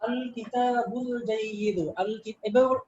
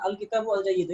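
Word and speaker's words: الكتاب الجيد: আল কিতাবুল জাইয়িদু এইভাবে বলবেন না, আল কিতাবু আল জাইয়িদু এরকম না, আল কিতাবুল জাইয়িদু, ঠিক আছে?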